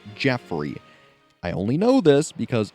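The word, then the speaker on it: Geoffrey: although his name is spelled Joffrey it is pronounced Jeffrey I only know this because Fire Emblem Heroes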